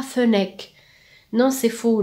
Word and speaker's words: fennec: دير ملاحظه بالنسبه لا prononciation كاين اللي ينطقوها fennec. non c'est faux. le e كيعود suivi de deux consonnes.